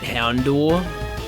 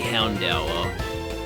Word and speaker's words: Houndour: Now see, I always used to pronounce it Houndor, but I've realized, like, fairly recently that it's actually Houndour. It's a Dour Hound, and that's why it's Dark type.